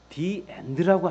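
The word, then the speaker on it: the: 남자한테 정내미가 떨어졌답니다 왜냐하면 모음 앞에 엔드 앞에 더가 붙을 때는 더라고 하지 않고 디라고 해야 한다고 합니다 엔드 정확하게 그까 표준 발음으로 말하면 더 엔드가 아니라 디 드라는 거죠 사실 그게 뭐가 중요합니까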